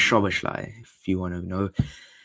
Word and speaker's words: Szoboszlai: Isn't it pronounced Szoboszlai? It's pronounced Szoboszlai, if you want to know.